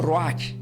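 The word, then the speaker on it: רוח: la palabra Espíritu Santo en el griego se pronuncia como Roach r u a h y santo decimos cad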